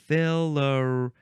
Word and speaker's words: filariae: How do you pronounce the plural of this? Filariae or filariae?